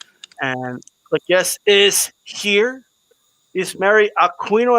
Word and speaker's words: Isamary: Isa Marie Aquino. Am I pronouncing that right? It's Isamary. Isa Marie.